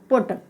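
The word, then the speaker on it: put: यू आ रहा है, तो यहाँ पर यू का उच्चारण उ होगा। तो पी यू टी, इसको हम क्या पढ़ेंगे, पुट।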